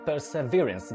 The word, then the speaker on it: Perseverance: Perseverance, dokładnie tak się powinno to wymawiać.